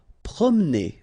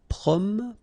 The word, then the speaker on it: promener: Promener. Okay, don't insist on this here. Okay, so it will go like promener, promener. Forcer.